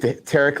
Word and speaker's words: Tariq: I said Tariq like Derek. Tariq, okay.